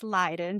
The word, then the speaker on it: Leydon: Everybody pronounces my last name Leydon, but it is Leydon, just to clarify for all you guys out there.